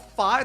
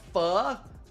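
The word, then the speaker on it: phở: So you're telling me this one is not called fire. This This one is called fur. Bro, we need to we need to YouTube this. How to correctly pronounce for f far f.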